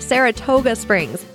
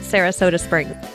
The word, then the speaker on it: Saratoga Springs: John posted from the bottled water episode, it's pronounced Saratoga Springs, not Sarasota Springs.